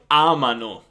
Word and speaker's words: amano: And then noi amiamo, voi amate, loro amano. So noi and voi are stressed at the end. The loro form is stressed at the beginning.